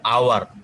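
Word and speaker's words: hour: কিন্তু উচ্চারণ করার সময়, হ্যাঁ এই উচ্চারণ করার সময় এইচ এর উচ্চারণ হয় না, এই জন্য এখানে হচ্ছে আওয়ার।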